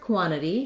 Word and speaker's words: quantity: The word quantity has first syllable stress, so we stress and lengthen on the quan syllable, and the letters QU make the sounds k and w together, qua, qua, typically in American English. This letter A says the ah vowel, so you might even write that as AH and